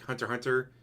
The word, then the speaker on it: Hunter x Hunter: x kind of like hunter hunter it's hunter x hunter no you do not pronounce the x and here is super